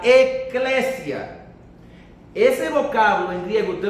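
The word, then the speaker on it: ἐκκλησία: La palabra iglesia es una palabra griega que viene de un vocablo que se pronuncia eclesia.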